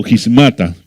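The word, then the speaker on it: σχίσματα: La palabra división que se menciona aquí se pronuncia como gismata, que significa cisma, ruptura.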